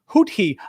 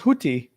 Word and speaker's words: Houthi: Arabic sound represented by the Arabic letter similar to an aspirated T, has no unambiguous English translation. The closest approximation is TH, as it represents the sound in boathouse. Hootie.